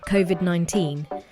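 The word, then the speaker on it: COVID-19: are very important so the pronunciation should be covid 19 and certainly not cov id 19 but that's just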